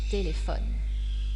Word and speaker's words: téléphone: un ordinateur un ordinateur mais si la dernière syllabe est muette c'est comme c'est le cas de téléphone l'accent tonique et porté sur l'avant dernière syllabe un téléphone un téléphone parlons maintenant des homonymes